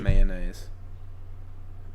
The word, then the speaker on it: mayonnaise: say the full thing mayonnaise mayonnaise mayonnaise okay so use two syllables yeah that's kind of a southern thing yeah I don't same